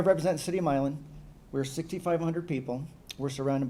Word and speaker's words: Milan: Governor Whitmer let everybody know it is pronounced Milan, not Milan in her State of the State address, so I was thankful for her. I'm here to represent the city of Milan.